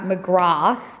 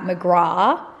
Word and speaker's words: McGrath: a girl saying I've I've been pronouncing Pat McGrath like Pat McGraw I always thought the th was silent but apparently not Pat McGrath labs sent